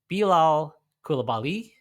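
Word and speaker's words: Bilal Coulibaly: he care about and I want to pronounce this right I've been saying it wrong the whole time belal kabali I believe is the right way to say it um does he care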